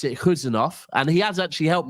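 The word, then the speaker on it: Khusanov: So I'll try my best to pronounce it Huzanov, and he has actually helped me now because I'm going to purposely know I don't want to get cussed out. It's Huzanov, not Kuzanov.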